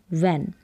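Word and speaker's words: when: व, डब्लू एच, इसमें व पढ़ेंगे क्योंकि एच तो यहाँ पर साइलेंट है, व, ए, न, वैन। तो डब्लू एच को साथ में ही पढ़ दें कि व पढ़ा है, यहाँ पर एच साइलेंट है।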